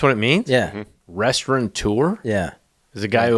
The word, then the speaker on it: restaurateur: And, Danny Meyer, the restaurant, famous restaurateur, spell that, restaurateur. I had to look that up twice. Restaurateur? Restaurateur. I don't think there's an N there. Maybe there's an N in there.